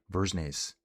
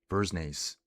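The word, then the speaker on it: Dversnes: D with a V. Silent D. Vernes. Vernes.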